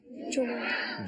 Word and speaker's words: جمعہ: جیم پر بھی پیش ہے، میم پر بھی پیش ہے، تو کیا ہوگا؟ جمعہ جمعہ۔ تو یہ اس کا درست تلفظ ہے۔ اب بولیے کون سا دن ہے؟